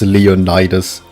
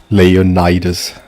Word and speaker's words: Leonidas: It's also this game that taught me that apparently English pronounces it as Leonidis which is weird.